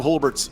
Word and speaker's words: Hulbert: By the way, I know you always doubt the pronunciation my name. I get it's a weird name. It's Hbert.